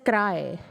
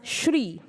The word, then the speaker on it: Sri: not be pronounced as cry it can be pronounced as Shri that is s-h-r-e-e like three yeah and the last